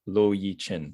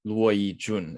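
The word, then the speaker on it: 駱以軍: So I would read this guy's name as Lo Yi Chin, but that's not quite right. It is Luo Yi Jun, if we're saying it right.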